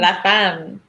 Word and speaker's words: La Femme: La Femme.